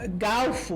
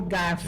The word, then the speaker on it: garfo: Há pessoas que pronunciam galfo, né, por garfo.